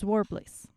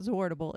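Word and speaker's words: Zwartbles: It's Zwarbliss. Zwarbliss. Zwarbliss. Yente commented to me, and she's Dutch, and she said, yes, it is pronounced Zwarbliss. Not Zwardable, it's Zwarbliss.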